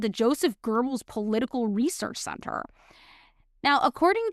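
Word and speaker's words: Goebbels: Gibbles. How do you say it? Like Germans say it. How do they say it? Gerbles. Gerbles. Yeah, that makes sense.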